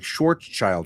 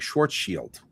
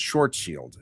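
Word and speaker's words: Schwarzschild: Because I've always said things like Schwarzild Radius because his name is Schwarzchild. That's the way it looks. Except that he pronounces it in German which ends up sounding more like Schwarz shield, right?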